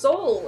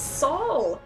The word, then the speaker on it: Sol: It's not pronounced soul, it's Sol! Every single episode I've ever made, it starts with Sol here. The pronunciation is Sol.